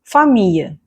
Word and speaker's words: famille: In many cases or in most cases, it's actually not pronounced, the L will not be pronounced. So, let's see examples. famille bouteille oreille famille bouteille